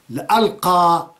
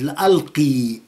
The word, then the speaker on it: لألقى: لا تظنوا اني جئت لألقى سلاما على الارض، ما جئت لألقى سلاما بل سيفا، لألقى وليست لألقي. ألقي يعني أدي أو أرمي سيف.